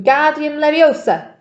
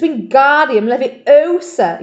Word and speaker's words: Wingardium Leviosa: much more look when Guardium Leviosa he shouted waving his long arms like a windmill you're saying it wrong Harry heard about his tap its Wingardium Leviosa you make the GAR nice and long you do it then